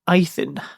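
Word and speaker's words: Ythan: My one point of housekeeping is apparently the river, it's pronounced Eithin.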